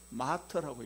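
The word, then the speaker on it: martyr: 영어에서는 마르티레스라고 안 읽고 마터라고 읽어요.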